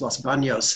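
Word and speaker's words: Los Baños: Los Banos, properly pronounced Los Banos, in the center of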